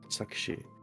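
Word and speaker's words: Sakshi: saki or saki is how it would be pronounced okay suck she okay cool uh interesting I I will I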